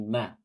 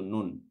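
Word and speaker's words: ن: baru belajar baca Quran bisa jadi dia akan membacanya dengan na ya padahal di sini yang dibaca adalah hurufnya ya nama hurufnya ya bukan cara baca hurufnya ketika fathah dah atau kasrah karena di sini dia tidak memiliki tanda baca jadi yang dibaca adalah namanya yaitu Nun ya dan setiap huruf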